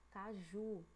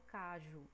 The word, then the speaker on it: caju: Caju. A gente não fala cajo, a gente fala caju, né? Caju, tá vendo? Olha a diferença entre cajo e caju. Ju tá puxando mais, tá mais demoradinha.